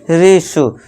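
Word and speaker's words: ratio: फिर नेक्स्ट है रेश्यो। अब यहां देखिए टी है। टी के बाद क्या है? आई ओ है। तो इसे क्या हम देंगे? अब टी के बाद आई ओ आ गया। तो इसे क्या पढ़ेंगे? रेश्यो। शल्यम वाले स का आवाज हम देंगे।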